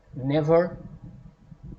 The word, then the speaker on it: never: Never, stress the first E.